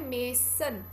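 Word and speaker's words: mason: आपसे स्पेलिंग्स अगर पूछे हैं तो आप करेक्ट कर देते उसको. वर्ड है मेसन.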